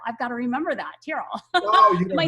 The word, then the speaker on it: Tyrell: got to remember that tyrol oh am i saying it right yeah terrible like you're tearing a piece of paper yeah yeah yeah cause